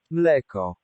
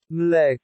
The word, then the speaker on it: mleko: Mleko. Mleko.